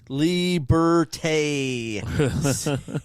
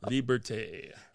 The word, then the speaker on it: Liberté: Liberté. Say it like yours. Liberté. Liberté. It's got the E with the emphasizer on it.